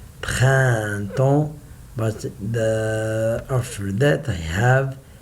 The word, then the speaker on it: printemps: The last 4 letters, I say it like en. Printemps.